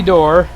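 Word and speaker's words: Doerr: second baseman Bobby D there's Bobby door not Bobby or but Bobby door both played for Boston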